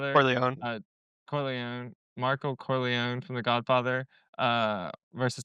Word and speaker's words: Corleone: Uh, Michael Corleani or I forget how to say it from the Godfather. Corone Corleó. Michael Corleone from The Godfather.